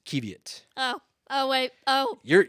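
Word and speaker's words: qiviut: hold on hold on is this pronounced kievit or is it kev yet there it is kevit oh oh wait oh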